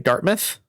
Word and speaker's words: Dartmouth: Wait, Addy, can you pronounce Dartmouth? That's it, right? Dartmouth.